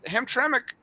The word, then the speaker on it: Hamtramck: Am I pronouncing that correct? Yeah, Hamtramck Park? Hamtramck.